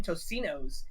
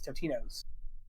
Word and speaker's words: Totino's: sponsored by them and he kept saying their original name tosinos and he had the he had they they messaged him like no dude you like you gotta say it right it's totino's and okay i'm relieved at